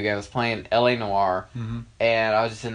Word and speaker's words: Noire: Which is really weird because it's spelled, I mean, like... It's got an E.